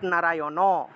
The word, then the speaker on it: নারায়ণ: একটা হল দাঁত দিয়ে উচ্চারণ করতে হয়। এটা হল দাঁত দিয়ে। অর্থাৎ নারায়ণ।